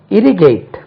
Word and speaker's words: irrigate: நீர் பாய்ச்சி, irrigate, I-R-R-I-G-A-T-E, first syllable தான் stress.